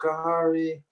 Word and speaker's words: Khari: stopped saying my name like kahari is his name it's kentucky as his number one team his name is carrie but that had went